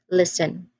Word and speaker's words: listen: It is pronounced as listen, which means that letter T is the silent letter.